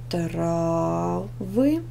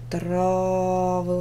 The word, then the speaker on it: травы: е следующая пара слов травы тире трава травы ударение на первый слог Проверочное трава ударение на